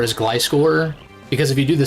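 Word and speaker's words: Gliscor: This is why you should pronounce Glycore as Glyscore because if you do the same pronunciation thing for Gliggar, it sounds bad.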